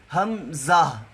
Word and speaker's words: حمزہ: ادا ہوگا، ہا۔ آگے حمزہ، یہ جو حمزہ ہے یہ 4 حرفوں کا تلفظ ہے، اس میں ہا، میم، زا اور پھر ہا، آخر پہ ہا ادا ہونی چاہیے، حمزہ۔ ایسے جب ہم